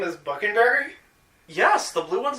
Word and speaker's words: Buckenberry: Buckenberry, spelled like fucking-berry with a B.